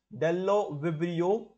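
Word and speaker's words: Bdellovibrio: are Alteromonas, Aquaspirillum, Azospirillum, Dellovibrio. Okay, B is silent here. Okay, B is silent. It is pronounced as Dellovibrio.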